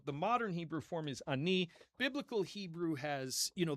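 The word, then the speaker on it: אני: So, the word ani, it's with a super short a vowel. Ani. Ani. Okay. So, don't hold it out. Um in Arabic it's Anna with a a longer a vowel at the beginning.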